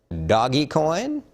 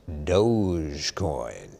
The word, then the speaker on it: Dogecoin: at your screen how would you pronounce that word doggy coin no it's dogecoin dogecoin how about singer songwriter